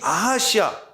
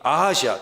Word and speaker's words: 아하시아: 여러분이 아하시아 아카시아 비슷하죠? 아카시아 발음이 아하시아 다 함께 아하시아 아하시아 저 1절에 있는 아합의 아들입니다.